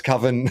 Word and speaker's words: Coven: It's either Coven or Coven. I think it's Coven if it has an umlaut, but it's Coven is the way it should be pronounced. I don't want it to rhyme with oven.